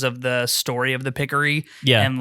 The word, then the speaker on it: Picori: I have always pronounced this Picori. Really? Yeah. I say Pickery, and I don't know why, but I doubt that there's like a common, like an accepted correct way to say this, right? Because it's all in text bubbles, and right. Like the way that it's spelled, it really could be either.